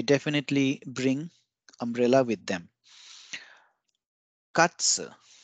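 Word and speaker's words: かつ: Katsu. Katsu is a deep fried cutlet of meat. And notice the pronunciation of katsu. It's not katsu, it's katsu.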